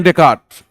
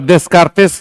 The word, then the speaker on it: Descartes: पर डेस्कार्टेस नहीं बोलते हैं, डेकार्ट बोलते हैं।